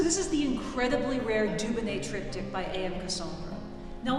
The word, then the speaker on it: Dubonnet: And then he realized I'm a genius, because phonetically in French, Dubo looks good, Dubon tastes good, Dubonnet, the name of the brand.